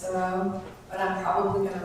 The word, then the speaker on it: Thoreau: And she pronounces his name with the stress on the second syllable.